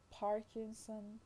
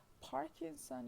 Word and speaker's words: Parkinson: second as you see so likewise parkinson is the stress on the first syllable you see but parkinsonian